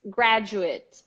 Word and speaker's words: graduate: One that a lot of people get wrong is graduate and graduate. The verb is to graduate. You have a stress in the first syllable, yes, but the third one is spelled A.